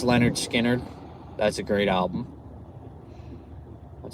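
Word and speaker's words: Lynyrd Skynyrd: Um, it's pronounced Leonard Skard.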